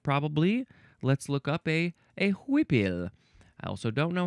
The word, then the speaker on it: huipil: Next, we have, do we pronounce this huipil? Huipil.